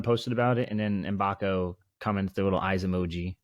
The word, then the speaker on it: Mbako: I mean, we've clarified his last name is pronounced Mbako. We kind of butchered that the last pod, but we won't do that again moving forward. Mbako.